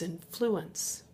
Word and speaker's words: influence: Okay, so that's emphasis on the first syllable. That is a noun. Second example is influence. This is a verb. Influence. That has emphasis on the second syllable, emphasis on the penultimate syllable, the second to last syllable, and it probably makes